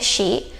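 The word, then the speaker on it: し: Tapi karena ini cara bacanya pun bukan si tapi ada h-nya ya she.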